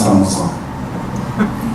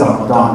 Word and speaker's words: Ramadan: It's Ramadan. Because some people, they want to be very, American, they say Ramadan. We don't have Ramadan.